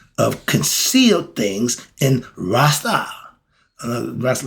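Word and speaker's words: Restau: Rasta like that, but it's spelled R-E-S-T-A-U. Okay, Rastu.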